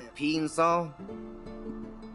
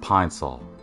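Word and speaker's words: Pine-Sol: What do you got there, peen sol? Really? It's pronounced pine sol.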